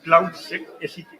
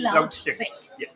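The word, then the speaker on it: CloudSEK: By the way, it's cloud se not like we pronounce it cloud sick.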